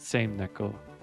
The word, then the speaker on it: Same Neko: Is it pronounced Same Neko or is it same Neko? I assume Same Neko, just based on the Japanese pronunciation. Same means shark. Neko means cat.